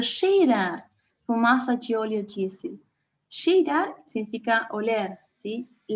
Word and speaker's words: cheirar: Cheirar significa oler, ¿sí? Fíjense cómo se pronuncia la CH. Cheirar, ¿sí? Como cuando decimos cachaza. Tiene que estar bien sutil.